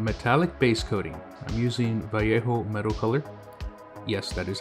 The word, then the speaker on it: Vallejo: time for some metallic base coating i'm using vallejo metal color yes that is how you pronounce it by you and this is dual